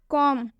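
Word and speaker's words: comb: जैसे कि आप एग्जाम्पल भी देख सकते हैं, कॉम। कॉम में एम के बाद से बी आया हुआ है, इसलिए हम इसमें बी का उच्चारण नहीं करेंगे। इसे हम कॉम्ब नहीं पढ़ेंगे, इसे हम कॉम पढ़ेंगे।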